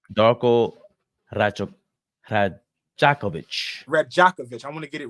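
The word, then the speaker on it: Rajaković: Radjanovich. Darko Radjakovic.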